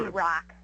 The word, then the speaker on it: Rock: Well, Allie, is it Rack or Rock? It's actually Rock.